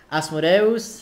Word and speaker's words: Asmodeus: Asmodeus, Asmodai, Asmodai. Different types of pronunciations and spellings.